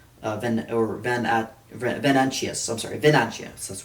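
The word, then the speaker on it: Venantius: Zan of Salv or Van Venanchius I'm sorry Venanchius that's how they pronounced it um is found dead and he's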